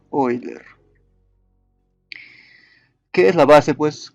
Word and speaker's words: Euler: El número de Euler se pronuncia Euler.